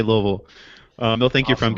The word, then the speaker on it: Louisville: There's There's only two There's only two syllables. Louisville.